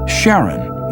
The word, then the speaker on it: Charon: in greek mythology but preferred to pronounce it sharon more like his wife's name charlene from the motions of pluto and charon astronomers could work out